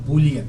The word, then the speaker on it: Bullion: jm i'm sorry yes jm boolean that's how you say it okay i just bought